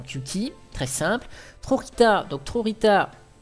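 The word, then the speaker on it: Trojitá: Trorita, donc Trorita, on le prononce à l'espagnol, Trorita, c'est un Courrieler, ici, donc vous voyez.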